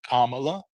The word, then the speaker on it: Kamala: letter like there like it's it's Kamala like it's this it's the emphasis first there but I have friends